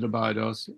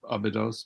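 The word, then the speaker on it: Abydos: tomb had been founded abidos or abidos both pronunciations are correct um by and excavated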